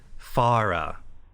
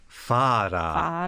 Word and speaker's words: Fuala: Her name in Japanese is Farah. It's spelled in English Fuala. Fuara. But it really is Farah. Farah? In the Japanese.